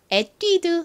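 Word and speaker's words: Etude: 혹은 이렇게 읽을 거예요 하지만 이거는 프랑스라 프랑스식으로이 부분이 뛰 이렇게 발음이 됩니다 그리고 앞부분이는에 소리가 나고요 뒤에는 드 소리가 나서이 브랜드 명은 에뛰드 하우스입니다이 프랑스어 에뛰드는 연구 학습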